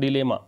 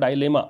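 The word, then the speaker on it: dilemma: अब कई बच्चे पढ़ते हैं डायलेमा, वो भी ठीक होता है। डिलेमा, डायलेमा दोनों प्रोनाउंसिएशन आप देख सकते हैं, अगर आप इसको चेक करें डिक्शनरीज में तो आपको दोनों प्रोनाउंसिएशन मिल जाएंगे, ठीक है।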